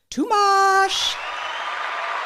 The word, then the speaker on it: Tomás: So, welcome Tumash. How did I do? I feel like I butchered your name.